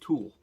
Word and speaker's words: tulle: So what the material is that I'm going to talk about today is called tulle. It's spelled T-U-L-L-E, and what it is a veiling material.